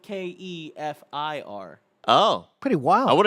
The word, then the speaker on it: kefir: as Kevin right now are you gonna do kefir next Keffer let's do it let's do it